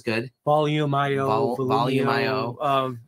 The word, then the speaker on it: Volumio: volumio that sounds good volume io volume io um it's like volume but you take the e off the end of it and add i o at the end and you just attach